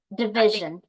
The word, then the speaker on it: division: okay, division. So again? the stress is on vision, division.